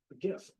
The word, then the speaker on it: GIF: is a time but GIF that's the right way to say not GIF so on the bottom